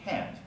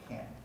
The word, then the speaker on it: can't: positive can or negative can't the contrast is not whether the t is there or not the contrast is in how clearly you pronounce the vowel so i can believe